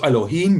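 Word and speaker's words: אלוהים: a little uh accent on top of the e in elohim that shows that's the stressed vowel the vowel that you put most of your emphasis into which in hebrews normally on the last syllable but as we'll see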